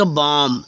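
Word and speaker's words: bomb: silent हो गया जैसे बी ओ एम बी इसको पढ़ेंगे बम क्या पढ़ेंगे बम या बम ओके फ्रेंड्स तो इस तरह से पढ़ना है बम ठीक है अब नेक्स्ट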